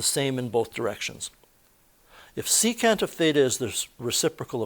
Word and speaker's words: secant: by saying cos Theta secant of theta is never pronounced seek Theta it's pronounced secant of theta there's no verbal abbreviation